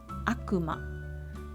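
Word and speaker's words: 悪魔: and here's the aggressive one the way of pronunciation is Akuma this is nothing special if it's not name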